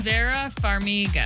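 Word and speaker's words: Vera Farmiga: Vera Fariga.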